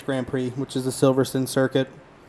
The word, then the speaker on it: Silverstone: got the british grand prix which is a silverson circuit silverson second it's spelled silverstone but the british say silverstone so